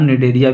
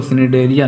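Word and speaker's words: Cnidaria: Coelenterata को हम निडेरिया भी बोलते हैं, निडेरिया, इसमें जो सी होता है वो साइलेंट होता है, ठीक है, निडेरिया बोलते हैं इसको, सिनेडेरिया नहीं बोलते, निडेरिया बोलते हैं, ठीक है।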